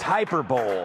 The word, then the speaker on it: hyperbole: Well, it's pronounced hyperbole.